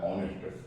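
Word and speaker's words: honest: जैसे मान लीजिए कि कोई शब्द है ऑनेस्ट भले ही कंसोनेंट शुरू है लेकिन इसका उच्चारण अ है ऑनेस्ट तो हम यहां पर एन का इस्तेमाल करेंगे।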